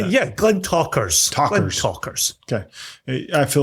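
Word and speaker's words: Glentauchers: Glen Tauchers? How do you say that? Yeah, Glen Talkers.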